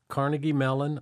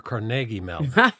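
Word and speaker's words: Carnegie Mellon: you ready I'm ready is it pronounced Carnegie melon or carnegi Melon depends on where you're from in Pittsburgh it's carnegi okay so you graduated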